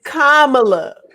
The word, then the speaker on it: Kamala: this brother was bumped up to what uh kamala's detail and everything you know escorting her out first off can we let me let me clear this up right now it's kamala okay um excuse me no no it's not